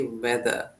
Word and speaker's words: weather: You actually make the e sound a little bit or most of the time. Okay. So what you have to do you have to say weather.